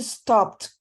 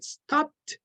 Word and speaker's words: stopped: S one more time it would be stopped exactly stopped with a t okay stop if you